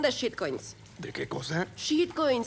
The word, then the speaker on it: shitcoins: Shitcoins, se pronuncia shitcoins, como inglés, ya sabes.